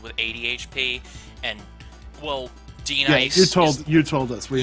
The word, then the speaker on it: D-Nice: It's pronounced D-Nice! Yes! Just D-Nice, not Denise, damn it!